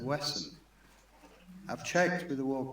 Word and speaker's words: Wesham: The number of times I hear people say Wesham instead of Wesson.